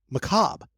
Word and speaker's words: macabre: Macabre.